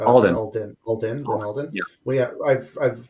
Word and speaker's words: Alden: of these personalities yeah lin lin uh aldean is pronounced uh alden yeah well yeah i've